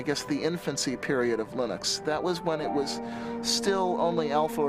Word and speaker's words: Linux: linus and i really don't care how people pronounce my name but linux is always linux he developed a kernel and